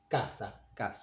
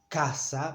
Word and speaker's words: casa: And if it's followed by A, O, or U, as in casa, by A, we pronounce it k. It's not as strong as in English. K. No, it's k. Casa. It's not casa, but casa.